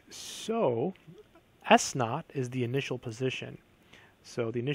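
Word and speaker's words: s₀: S of t equals negative 16 t squared plus v sub 0, or v naught t, plus s sub 0, or also it's pronounced s naught.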